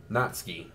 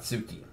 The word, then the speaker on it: Natsuki: an anime i watched that's actually pronounced natsuki and then and not not sookie duh hell i'm still